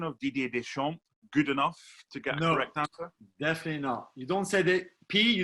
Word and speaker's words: Deschamps: gabs pronunciation of Didier Deschamps good enough together no you don't say the P you don't say the S at the end you said the P